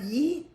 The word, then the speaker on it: yeet: It's Have you heard of yeet? Yeast or yeet? No, yeet. Spell it. Y-E-T, yeet.